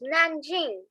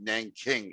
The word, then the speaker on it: Nanjing: where japan is me it's not hing it's nanjing but the thing is i'm a white guy i can't pronounce the uh the chinese letters of the sounds it's pretty hard for me to pronounce it i'm saying it best of you okay oh i'm sorry when i was young they called it nang king in the school okay eric how do